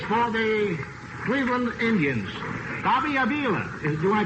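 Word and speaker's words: Avila: at second base for the Cleveland Indians Bobby AA do I pronounce that right yeah this is right pronunciation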